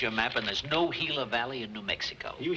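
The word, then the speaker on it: Gila: valley and solid it why didn't you tell me it was spelled with a g g i l a hila everybody knows that is Spanish you know what y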